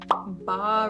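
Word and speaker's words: bas-relief: next one is the ba relief wrap I don't know my French mind is telling me it's ba but it's spelled b s and anyway this one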